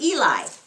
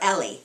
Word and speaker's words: Eli: priest, and his name was Eli, or Eli, as That's how Arnold calls him, Eli. He, which I guess is right, because he's a Jewish man and speaks Hebrew. That must be the correct pronunciation.